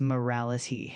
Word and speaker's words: morality: And morality is pronounced as morality uh with the emphasis on the second syllable as well.